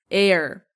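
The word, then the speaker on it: heir: ice cream air it's trick you want to pronounce air what is an air air it's a person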